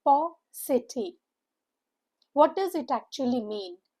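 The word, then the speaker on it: paucity: The stress is on the first part. And how is it pronounced? It's P city.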